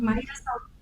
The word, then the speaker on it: Maíra Salome: Eu agradeço muito aqui a presença aqui da gente, da Maíra Salome. Eu pronunciei certo, Maíra, é isso? Falou certíssimo, Léo, então, isso pronto. Mesmo. Maíra Salome.